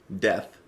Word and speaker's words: death: love you to death death i i got to pronounce the t and the h and not an f death uh off of their album october russ which was released in 1996.